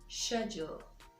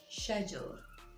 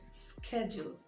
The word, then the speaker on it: schedule: ii d UL e schedule schedule and not schedule or schedule remember it's the british pronunciation alright next word gr